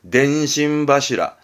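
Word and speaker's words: 電信柱: 그래서 발음이 덴신바시라입니다. 덴신바시라.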